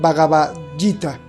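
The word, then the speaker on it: Bhagavad Gita: porque es indio se dice en español vagita y eso quiere decir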